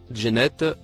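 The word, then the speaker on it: جنة: Il se prononce Djennet ou Jounet.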